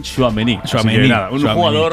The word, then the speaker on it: Tchouaméni: Pues mira, se lo hemos preguntado en la rueda de prensa y lo ha dejado muy claro. Aurélien Tchouaméni. Un jugador Aimar de futuro, pero de presente, porque tiene 22 años solo.